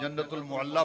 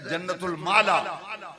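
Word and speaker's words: جنة المعلاة: बाज़ लोग जन्नतुल मुअल्ला पढ़ते हैं, ये लफ्ज़ गलत है। सही तलफ़ुज़ है जन्नतुल माला।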